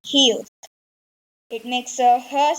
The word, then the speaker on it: 아: So let's start with our first vowel, ah. This makes the same sound in the word car.